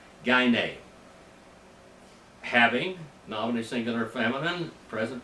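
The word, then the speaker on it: γυνή: And if you pronounce Greek wrong, it's Guni, but that's not right. That's Greek. That's German for Greek. German pronunciation of Greek, not the Greek. Gyne.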